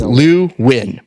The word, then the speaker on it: Luu-Nguyen: name and I did because I know it's Lou win but how do you say your first name